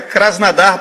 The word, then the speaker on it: Krasnodar: a seguinte informação o krasnodar que lá na rússia ele chama de krasnadar porque em russo quando o homem não é sílaba tônica da palavra tem som de a então é krasnadar para o justo é